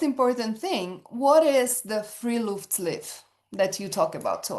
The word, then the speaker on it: Friluftsliv: and I will try to say it right, Friluftsliv.